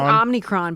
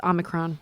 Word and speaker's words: Omicron: I keep saying Omnicron, but it's Omicron.